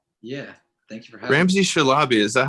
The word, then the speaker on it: Ramzi Shalabi: the podcast ramsay yeah thank you very much ramsay shalaby is that how we pronounce it yeah that's good okay perfect um